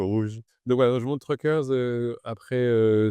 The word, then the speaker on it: Truckrs: fondateur de Truckers donc on prononce Truckers. T R U CR RS. Il y a pas de e, c'est un petit clin d'œil marketing.